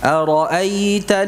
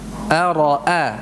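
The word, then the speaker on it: أرأيت: Nah, ini harus kita ucapkan dengan sempurna, bukan ara'aita, enggak. Di sini ada hamzah 2. Ara'a. Jadi ada 2 hamzah. Masing-masing dibaca dengan jelas. Ya, tidak ada yang dibaca dengan tashil. Jadi bukan dibaca gini. Ara'aita, dari pangkal tenggorokan gitu ya. Jadi keduanya dibaca dengan tahqiq.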